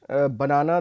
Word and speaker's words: banana: Again, as I said, banana, the stress is on the second syllable.